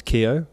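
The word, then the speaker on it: Keogh: my last name is Keo which is Keo G H which is name and the gh is silent which um not everyone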